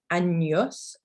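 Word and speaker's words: años: examples in this text annyos meaning years and yes so it's almost like it's about a-n-y-o-s anos and then also we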